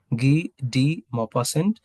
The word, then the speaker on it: Guy de Maupassant: That's the pronunciation of this French name, Guy de Maupassant.